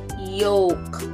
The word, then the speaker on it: yolk: yes yo all right but this one is yolk and not yok okay don't you ever pronounce it as yo okay so this is doubted doubtly confusing because it describes the yellow part of the egg and it would make sense for the l sound to be heard just like it is in the color but it's not it rhymes with joke and folk okay so joke and